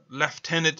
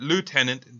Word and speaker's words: lieutenant: 1871 he's Cameron's lieutenant this is leftenant and British pronunciation but lieutenant British in American pronunciation of course he becomes